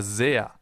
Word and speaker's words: sehr: That's why it's called Bienen S, because it's pronounced Z, as in super, for example, or sehr.